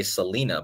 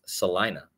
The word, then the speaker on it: Salina: A lot of people mispronounce this and say Selena, but it's actually pronounced Selina, right?